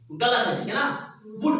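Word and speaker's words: would: इसको बुल्ड करते हो वुड पढ़ना क्या फूड इसमें ल साइलेंट होता है और मस्त था तो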